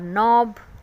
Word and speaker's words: knob: यू सी the letter K but don't say इट इफ़ इट is sitting next to N.